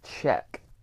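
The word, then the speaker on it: Chek: a guy called Paul Check. So Paul, I think you all know how to spell Paul. Paul Check, but Check is less obvious because his surname is spelled C-H E-K.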